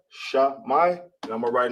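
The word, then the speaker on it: שמע: That will be Shemai. Remember, always write the capitals. Right there. You got Shah, you got Mai together. Boom. Now, this is hear or listen. It's Shemai in Hebrew, S-H-A-M-I, Shah-Mai, and I'm going to write in the ancient.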